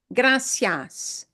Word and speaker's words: gracias: Gra gracias gracias Perfecto so when you see two vowels next to each other just know we pronounce each one of those vowels they don't make a magical different sound yeah uh they just slide together okay uh and there we